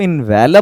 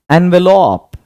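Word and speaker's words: envelope: इन the same way ये जो लिफाफा है, बहुत सारे बंदे इसको इनवेलप बोलते हैं, बट the correct pronunciation is एनवेलप, एनवेलप।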